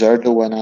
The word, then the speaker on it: Erdogan: I'm not sure how his name is pronounced. It's Erdogan, actually.